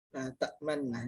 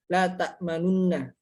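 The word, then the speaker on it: لا تأمنا: Jadi dia ada bacaan la ta'manunna, la ta'manna. Jadi bacaannya adalah la ta'manna. La ta'manunna. Jadi terbuangnya dengan isyarat bibir.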